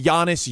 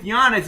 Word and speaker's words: Giannis: That is fascinating cuz the G with Giannis is pronounced like a Y.